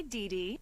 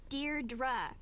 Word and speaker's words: Deirdre: Hi, Dee Dee. Deirdre. I know it's got that tricky second syllable, but I figured it out by age 2. Don't give up. You'll get there.